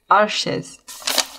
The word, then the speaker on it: Arches: If we look at, say, a sheet of Arche, let's just settle this now. Let's look at how you pronounce. Des Arches. No, you're lying to me. I know. Here we go. Right, got it. Arches.